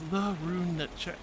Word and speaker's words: Larunechka: Laroon says Larunechka. That's how you pronounce it. But Laroon is fine. I like Laroon. It's fun and easy.